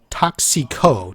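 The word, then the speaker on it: Tóxico: parts we can't well the internet tells me to pronounce it toxico toxico and let's look for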